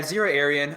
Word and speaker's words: Xira Arien: It's Xira Arien, correct? Xira Arien. Yeah, Xira Arien.